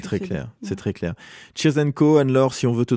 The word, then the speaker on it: Cheers and Co: Et là la particularité c'est que Cheers and Co, s'écrit c h e e r s n c o. Ah cheers co à l'anglaise.